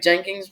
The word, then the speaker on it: Jenkins: Right, Jenkins.